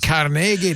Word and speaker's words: Carnegie: Nor should advertisers, but it's pronounced Carnegie.